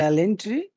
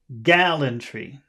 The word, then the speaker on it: gallantry: honorable okay uh so where's the accented syllable where's the big syllable in that word gallantry uh G gallantry lantry listen gallantry listen to me say the word gallantry gallantry yeah g g